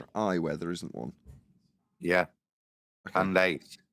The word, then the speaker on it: Candace: Candace. Candace. Yes. Perfect. Candace. Got it. At least I'm not getting a surname wrong.